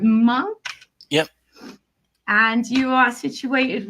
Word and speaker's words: Monk: But today we have, am I pronouncing it right? Monk?